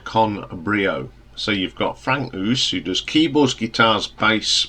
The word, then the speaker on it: Frank Oos: Now this is a project by a German musician called Frank Oos, which is spelled us, so like us, and it's an inspired band of passing some of the great musicians from the 70s prog scene.